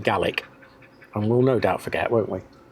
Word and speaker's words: Gaelic: So, every time we say Gaelic, please correct us and shout at the screen because we should be saying Gaik.